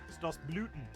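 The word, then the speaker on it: Stoßlüften: It's the longer O. Stas Bluten.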